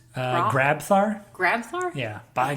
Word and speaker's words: Grabthar: Wait, how is it pronounced? Grabthar? Grabthar? Yeah, by Grabthar's hammer.